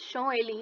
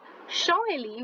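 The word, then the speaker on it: Champs-Élysées: now you must be wondering why am i pronouncing it as show ali it's written champs but look at your food for thought it says show ali which is pronounced as that is why i'm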